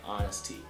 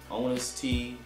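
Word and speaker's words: ŏn.us.tees: been talking slow enough it's uh honesty now people say on us te you know that's fine use it on us te cool but technically speaking I guess is honesty uh play on honesty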